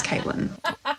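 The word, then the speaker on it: Cviiilyn: So it was C V I I I L Y N. That would be pronounced civilian. The V I I in her name was actually Roman numerals. So that was an eight. So her name was Caitlyn.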